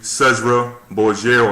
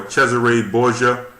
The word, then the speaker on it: Cesare Borgia: they'll give it to cezra borger or cesare borgia if you want to go by the exact pronunciation they'll give it to